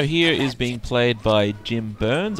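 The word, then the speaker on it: Byrnes: is being played by jim burns i assume that's how his name is pronounced it's burns with a y um a rather surprising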